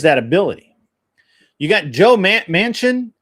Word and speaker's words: Manchin: You got Joe Manchin. How do you say it? Joe Machine? It's Manchin. Manchin, I think.